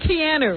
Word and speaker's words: Keanu: Douglas maybe do that same part think of canoe Reeves that guy canoe Reeves can whatever canoe can how do you say it Keanu yeah right I'm GNA buy into that yeah